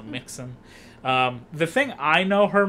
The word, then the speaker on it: Mixon: It's like Dixon, but with an M instead, so Mixon.